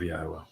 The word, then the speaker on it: Yahweh: Not only conveying it properly, but explaining it and then proving that this is the correct pronunciation of Yahweh.